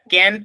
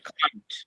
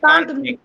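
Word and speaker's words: can't: কি হবে ক্যান্ট হ্যাঁ ক্যান্ট না উচ্চারণটা হবে হচ্ছে কান্ট হ্যাঁ সরি আই কান্ট হ্যাঁ এই উচ্চারণটা তোমাদেরকে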